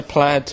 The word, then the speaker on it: Plaid: do you pronounce it we say plaid but um you can say play if you like apparently a lot of people do that yeah I mean it's it's a it's one of those words that you can say either way really so you just performed